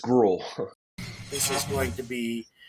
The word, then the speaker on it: Grewell: spell how you say how you pronounce your name guell gr gr we we're not fancy enough for that extra syllable we're just GRL this is going to